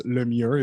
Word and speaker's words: Lemieux: For those that need to understand my last name, it's French, so it's Lemire. It's very hard to pronounce if you don't speak French, but I go by